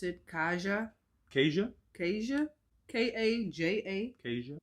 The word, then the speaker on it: Kaja: You pronounce it Kaja? Kaja? Kaja? K-A-J-A? Kaja? Like Asia. With a K.